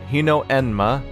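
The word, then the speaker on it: Hinoenma: difference between those is HMA pronounced Hino Hino enma I totally was right about that one yo-kai taking the form of a young woman deceives humans and drinks their blood the name hin enma literally means flying bad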